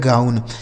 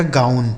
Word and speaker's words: gown: ठीक है, GOWN, जी से हो गया ग, इस OW का उच्चारण आऊ हो गया, N से न, लिखा गया है गाउन। GOWN, इसे पढ़ा जाएगा गाउन।